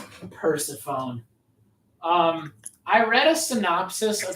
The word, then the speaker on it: Persephone: Well, because in Greek, you say the sign of E differently. Because that's why you say Persephone, not Persephone, like a nerd. Persephone.